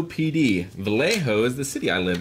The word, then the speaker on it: Vallejo: In the box, you'll see the stuff labeled Vallejo PD. Vallejo is the city I live in. If you're not sure, it's pronounced Vallejo.